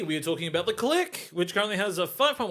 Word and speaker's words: Clique: rubbed off of me even though I know that that's pronounced the click it's so there's going